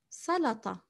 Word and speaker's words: سلطة: سلطة, it's quite similar to English almost. سلطة with the emphatic ط.